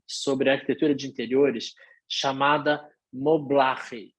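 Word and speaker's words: Moblaje: arquitetura de interiores chamada mobile se escreve m o b l a j e seria mobile com j A Mobile é a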